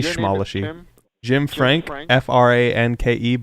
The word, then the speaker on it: Franke: Franke, but the E is silent. You don't pronounce it when you say it, it's just Frank.